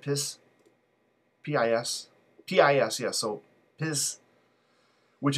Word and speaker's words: PiS: Right now we have, am I pronouncing it right, PIS? P-I-S?